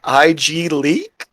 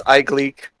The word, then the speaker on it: iGleek: Everybody else that says my name is they're like IG Leak. Igliac? Yeah. Yeah, or Igloo. That one was fun. But yeah, it's iGleek.